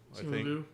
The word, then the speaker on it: Simu Liu: Is that how you pronounce his name? Was Simu Liu? Simu Liu.